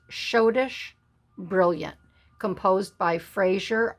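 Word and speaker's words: Schottische: crown diamonds and this is called shodish it's pronounced shodish brilliant composed by frasier r dipmars now when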